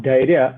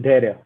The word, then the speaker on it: Dhariya: You can it's actually pronounced Dhariya, but you can pronounce it Dhariya.